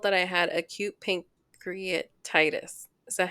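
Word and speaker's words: pancreatitis: I was told that I had a cute pink create Titus is that how you say it yes it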